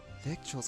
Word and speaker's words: victual: One shall visit Wanmin Restaurant in person and see how Victuals? Shenhe is doing. Victuals.